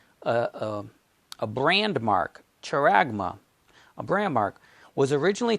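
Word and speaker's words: χάραγμα: the greek and this is the way we pronounce it charagma character so that's the mark that's the word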